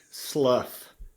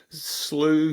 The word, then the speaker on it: Slough: Well, not if they've met your grandfather, my father, who says slough rhymes with plow. But I get called Slew, Slough, Slaw.